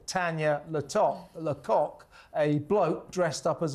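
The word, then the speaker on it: Lacoq: Uh hosted by Tanya Lok. And in case you think I'm saying a naughty word there, you spell it L A C O Q as in the French for chicken. Uh, it's a, you know,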